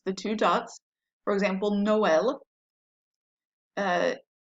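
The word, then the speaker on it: Noël: for example noel uh if it's used it means that you're going to pronounce the second vowel separately from the first when you have two vowels so otherwise if that wasn't here we might say nual or something because the o and the e would be together but they're pronounced separately because of the accent so it's no el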